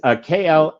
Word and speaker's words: Klaviyo: A couple of my clients have that tool, and of course I can't pronounce it right. But it's Klaviyo, and it automated the email campaigns.